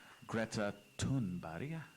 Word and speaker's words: Greta Thunberg: I really admire Greta Thunberg. That's how you say her name in Swedish.